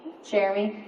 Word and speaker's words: Cherami: I would tell everybody my name rhymes with Jeremy and they're like oh